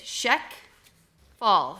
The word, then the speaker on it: Shek: It's Shek Fall. So it's like shack, right?